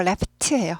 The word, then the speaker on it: laughed: 과거는요. laughed 하지 않고 laught예요. 푸가 무성음이잖아요.